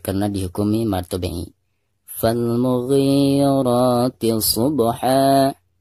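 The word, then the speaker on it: صبحا: Pertama, huruf ba-nya kita qalqalahkan, karena ini dihukumi qalqalah sugro ya. Subha. Adapun ketika diwaqafkan, ini juga sama, dihukumi mad iwad. Cara membacanya pertama hilangkan suara tanwinnya, lalu digantikan dengan bacaan panjang 2 harokat.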